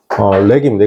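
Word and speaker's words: wreck: 가지고 오다라는데 렉입니다. 이게 W 발음 안 되는데 여러분 그 자동차 사고 나면 가장 누가 고속도로에서 먼저 쫓아와요?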